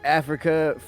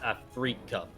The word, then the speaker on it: Afrika: He is a part of Team Africa Freaks. He goes by the name of Sue. It's pronounced Afrika. What did I say? You said Africa? Oh. I thought I said it properly.